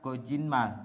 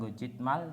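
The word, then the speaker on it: 거짓말: Meskipun tulisannya gojitmal, namun ada aturan baca ketika ada bacim yang berakhiran dengan t bertemu dengan miem, maka bacim yang berakhiran dengan t tersebut akan berubah menjadi nian. Jadi dibacanya gojinmal, bukan gojitmal tapi gojinmal.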